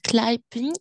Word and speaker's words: climbing: Look, somebody is climbing that tree over there. هلا هل عرفت climbing هي التسلق. ايه بس ديري بالك البي لا تلفظ.